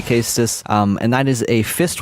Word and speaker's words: Caestus: Some people say it's Caestus, some people say it's Castus. I'm going to say Castus, and that is a fist weapon, which will be the next weapon we will be using.